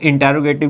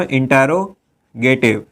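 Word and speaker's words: interrogative: इंट्रोगेटिव मत पढ़िएगा, इंटेरोगेटिव होता है इसका क्या रियल प्रोनाउंसिएशन, क्योंकि अगर आप इंटेरोगेटिव पढ़ेंगे तो वही लिख भी देंगे, है ना। तो ये इंटेरोगेटिव होता है, इंट्रोगेटिव नहीं होता है।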